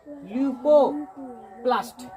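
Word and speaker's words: leucoplast: और अंतिम में है अवर्णी लवक यानी ल्यूकोप्लास्ट। इसको उच्चारण नहीं हो रहा था, अभी 2-4 बार में हम करा देंगे, हो जाएगा। अवर्णी लवक यानी ल्यूकोप्लास्ट, अवर्णी लवक यानी LEU, ल्यूकोप्लास्ट। याद रह जाए, प्लास्ट सब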